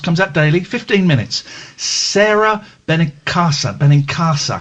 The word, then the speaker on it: Sara: Benin CA Benin cassa I think it's Cara it's pronounced Sarah is s a r a Sarah beninca um she does